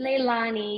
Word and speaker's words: Lailani: how do you pronounce your name, sister? Leilani? Leilani? Leilani, yes, yes, Leilani.